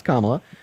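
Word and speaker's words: Kamala: um to vote for Camila you could say I don't know okay so first her name is pronounce kamla uh but I uh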